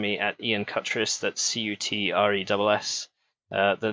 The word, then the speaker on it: Cutress: That's Cutress. The name is French. Apparently, I'm descended from 17th century French peasants. So it should be pronounced Coutre, but Cutress is how we go.